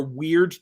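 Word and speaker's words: wyrd: It has there are weird tides, spelled with a Y, W-Y-R-D, and the weird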